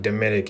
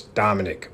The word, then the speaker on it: Dominik: I mean, it's not Dominic, it's Dominic, but maybe it's AI talking.